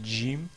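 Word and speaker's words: جيم: veux juste préciser que dans certains dialectes arabes j'ai déjà dit que le le le GIM se prononce comme si c'est un G français donc ils disent GIM au lieu de Jim mais parfois c'est encore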